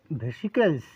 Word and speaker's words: Vesicles: লিখি আজকের বিষয়বস্তুটা কি চর্মরকটির ইংলিশ নাম হচ্ছে ভেসিককেলস উচ্চারণটা লিখে দিই তাহলে আপনাদের সুবিধা হবে ভেসি কেলস